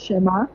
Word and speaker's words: Shema: My name is Shema. Shema. Yes, Shema. It's a native African name, so the T is silent, so it's called Shema.